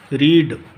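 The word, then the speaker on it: read: तो सेम रहती है, लेकिन सेकंड और थर्ड फॉर्म में उनकी जो ध्वनि है, उनका जो स्वर है, बोलने का जो तरीका है वो ज़रूर चेंज हो जाता है।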